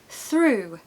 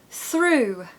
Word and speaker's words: through: great mood number one through through so the first hack is to Simply ignore the letters okay o u g h if we said that